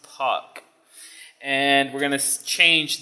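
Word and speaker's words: pak: And the next thing we need is a POC object, and that's, you type P-A-K, but it's pronounced POC.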